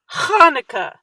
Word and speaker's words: Hanukkah: it's you know it's the way jewish people say the ch it's it's not it's ha so there's a lot of chs uh that are pronounced like huh hanukkah hanukkah and that's how